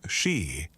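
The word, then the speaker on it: 四: The same phonetic overlap exists in Japanese, where shi means both 4 and death, and in Korean, where the word sa carries the same double meaning.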